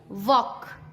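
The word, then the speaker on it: walk: टॉक, वॉक, चौक। एम से पहले CALM काम, बाम, पाम। एल साइलेंट होता है, क्लाम नहीं, काम, बाम, पाम।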